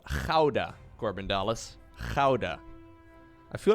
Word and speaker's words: Gouda: to expect daguda gouda spelt for correct pronunciation it's called hauda corbin dallas howda i